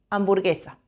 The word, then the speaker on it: hamburguesa: La H nunca suena. Hoy, hamburguesa.